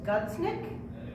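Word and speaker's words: Gudsnuk: We're going to be doing an interview with Kristen, please forgive me if I mispronounce this, Gudsnick, I believe it's pronounced, who is the writer and artist for a really great comic book called Hench Girl.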